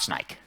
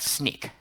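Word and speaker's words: Snyk: can pronounce it right it's not snake who said sneak i heard it over there snake who's that sneak nobody gets the water bottle we will we will get back in that it's sneak but well hey so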